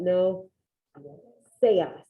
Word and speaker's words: seas: It looks like sees, but that's not how you say it. Anybody know how to say it? No seas.